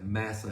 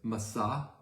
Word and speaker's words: Massah: But because of their quarrelness, their complaining, this place was named, we often say Massa, it's Massah, and Meribah.